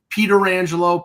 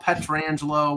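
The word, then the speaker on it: Pietrangelo: None of us could pronounce his name the right way. It took a while. Yeah. Peter, it's okay. Peter Rangelo, Petrangelo, whatever.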